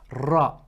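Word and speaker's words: ر: writing Dal and ra so ra there's a nice role to it you have to make the r a bit more powerful the next row which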